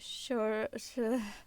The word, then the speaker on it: Saoirse: like if you're using what's her, how do you pronounce it? Saoirse Ronan.